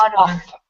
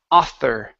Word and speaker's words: author: Instead of otter, it's Otter. author. After. Author. Tongue between the teeth.